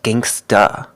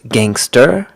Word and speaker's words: gangster: short for gangster or also pronounce Gangsta remember in slang you often have the choice to pronounce the e r or to pronounce it uh here it's gangster or Gangsta gangster Gangsta a or ER and with our first